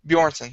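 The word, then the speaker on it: Björnsson: is tall and strong but actor uh go pronounce that that's uh uh how for uh bronson bjornsson bjornsson there we go thank you is much much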